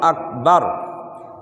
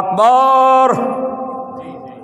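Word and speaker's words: أكبر: দুই নম্বরে তাকবীরের ভুল, কেউ কেউ তাকবীর বলতে এখানে আকবার বাংলায় হলো ক, কি আরবিতে হলো কাফ, আকবার, কেউ কেউ বলে আকবার। খেয়াল করছেন? গ বলে, গ, আগ, আল্লাহু আকবার, আল্লাহু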